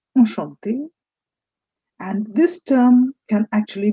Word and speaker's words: enchanté: Enchanté. The CH in French becomes sh.